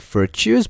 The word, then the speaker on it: virtus: what vertice or the they pronounced like virtues but it was virtus like the text were what it was